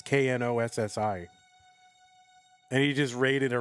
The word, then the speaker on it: Knossi: It's Knossi.